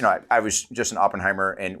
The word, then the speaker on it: Oppenheimer: just an Oppenheimer and which is some people uh falsely pronounce Oppenheimer which you know it's like it's it's you don't say you don't say I popped my pants you say I poop my pants so it's for me